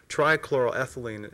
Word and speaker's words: trichloroethylene: specifically from the the EPA facts study again trichloroethylene is the pronunciation it is listed as a colorless liquid